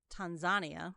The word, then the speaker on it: Tanzania: Found out you're supposed to pronounce it uh Tanzania.